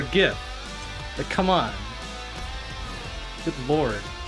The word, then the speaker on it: GIF: g sometimes it's just a hard g for gif but come on good